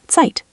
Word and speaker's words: Zeit: Zeit, time, sounds like Zeit. Let me try. Sonne with a Z sound, Sonne, and Zeit is tight.